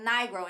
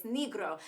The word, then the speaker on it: Nigro: I'm like nigro and in English it's Nigro. In Italian it's negro.